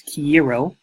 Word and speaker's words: quiero: So Spanish word for I want is quiero.